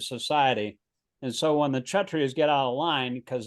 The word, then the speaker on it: Kshatriyas: The Yaistras, or the administrative. It's actually pronounced KSH, Kshatriyas.